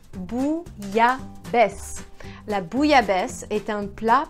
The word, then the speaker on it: bouillabaisse: Bouillabaisse. Bouillabaisse.